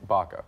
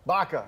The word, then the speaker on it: Baca: Baca. Baca.